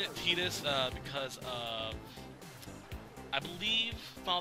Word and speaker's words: Tidus: When I first played the game, I pronounced it Titus, but I'll stick with Tidus. It's more of a Japanese pronunciation of it, so let's go with it.